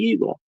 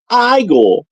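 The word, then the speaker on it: Igor: Well, you must be Eagle, and that's pronounced Igel.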